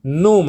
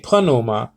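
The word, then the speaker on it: πνεῦμα: men uh you know they give this sort of pronunciation numa i used to do that too but now i say panuma because the p is is um you know pronounced okay so i mean it's not wrong to say numa it's not it's not really wrong too much but it's it's better it's better pronounced like uh panuma because the p is not silent in greek doll it's silent in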